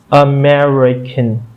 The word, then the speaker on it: America: So if we break this word America into syllables, so we're gonna clap in order to break it into syllables. So how it would sound like America.